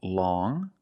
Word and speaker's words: long: First we see long with the sound which is a nasal sound long.